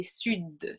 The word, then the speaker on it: sud: Une exception, ce serait sud, in the south, since we already accentuate a little bit more with our accent from the south, then we would say sud, and it pronounce more that D. Donc le D est prononcé.